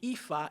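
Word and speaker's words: Aoife: And so, my daughter's name EA. A O I F E. It's Gaelic. Right. It's pronounced EA, you know, in Irish in their names. It's pronounced EA, but it's spelled A O E.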